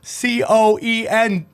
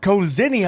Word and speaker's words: coenzyme: okay the essentially causinium c-o-e-n-z-y-m-e how do you say that cozinia no enzyme comes on okay coenzyme i like that required for cellular energy